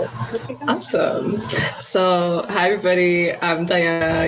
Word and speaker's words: Dianna: so hi everybody i'm diana you can also call me uh the spanish pronunciation which is diana i like don't mind either i get asked that